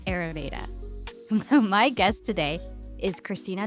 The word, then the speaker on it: Ayurveda: Yes, it's Ayurveda. So I like our eyes, the organs or eyes that we see out of. Mhm. Your Veda, the D is kind of the dental teeth.